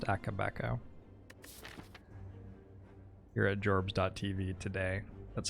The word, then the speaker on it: Akabeko: It's pronounced Akabeko.